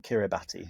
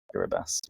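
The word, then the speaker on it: Kiribati: route along kir kirbas it's spelled kirati if you Google it but it's kabas yeah okay do you have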